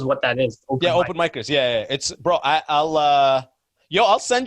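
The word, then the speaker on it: Micers: it was originally called micros but we decided to put open because we micros is spelled m-i-c-e-r-s and we didn't know if people would say mycers they wouldn't know if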